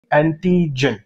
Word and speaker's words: antigen: लोग एक्चुअली कहते हैं एंटीजन. जहनशीन कीजिए ये स्पेलिंग ANTIGEN, लास्ट में ई नहीं है. अगर ई कहोगे तो फिर वो जेनेटिक्स वाला हो जाएगा, जिन.